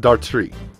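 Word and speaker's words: Dartrix: I believe it's pronounced Dartry, because the X is silent. Kind of a French thing.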